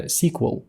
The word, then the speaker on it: SQL: або структурована мова запитів Ви також можете почути інший варіант вимови цього терміну це sequel і багато спеціалістів сьогодні продовжують використовувати такий варіант тому що раніше мова SQL дійсно називалася sequл і вважається що обидва варіанти правильні Отже SQL - це